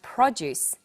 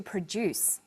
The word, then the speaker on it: produce: and this pattern of first syllable emphasis for the noun form and second syllable emphasis for the verb form is repeated with other words we have to extract and an extract to contract and a contract to construct and a construct and there are lots of others we have produce that